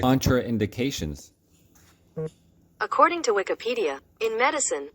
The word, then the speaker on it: contraindications: No, but it's spelled like contrain. Contradictions. It has TR anyways, guys. Contraindications.